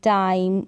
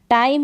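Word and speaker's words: time: टाइम है तो एम तक ही उच्चारण हो रहा है, टाइमी नहीं पढ़ते हैं।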